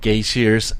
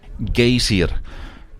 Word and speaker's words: Geysir: Just don't pronounce geyser with an American accent when you're here. It's pronounced Geysir, I think, if you want to impress the locals.